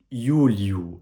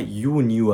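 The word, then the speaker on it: يوليو: Le mois de juillet en arabe a une prononciation très semblable au mois de juin en arabe, parce que là, on a Yuliu, et non pas Yuniu avec un N au milieu, c'est-à-dire le Nun en arabe.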